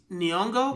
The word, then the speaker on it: Nyong'o: you say her name i think it's nyong'o cause it's like an apostrophe of the g o yeah um you know